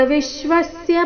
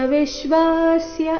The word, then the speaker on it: ವಿಶ್ವಸ್ಯ: ಸ ರೀತಿ ಬರಬೇಕು ತ್ವಮಸ್ಯ ವಿಶ್ವಸ್ಯ ಪರನ್ನಿಧಾನಂ ಇಲ್ಲಿ ತ್ವಮಸ್ಯ ವಿಶ್ವಾಸ್ಯ ಈ ರೀತಿ ಹಾಡಬಾರದು ತ್ವಮಸ್ಯ ವಿಶ್ವಸ್ಯ ಪರನ್ ಎಲ್ಲಾ